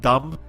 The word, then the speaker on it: dumb: you say the word dumb for me John just to get my dog across you don't you pronounce the b very you like to pronounce that b a lot and that bothers me